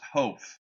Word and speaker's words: Hopf: some negative feedback my my last name's pronounced ho H like it's hopf yeah ho and it